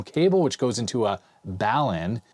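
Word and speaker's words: balun: which goes into a balan a lot of people corrected my pronunciation i was calling it a bailin but it's a balanced unbalanced uh converter it's got a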